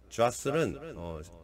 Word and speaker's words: jostle: jostle은 T가 발음이 안 되고요. 원래 E로 끝나죠.